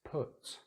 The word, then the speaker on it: put: Put, different vowel sounds. But, hut, ut. So it's the sound we have here. We're rounding the lips a little bit.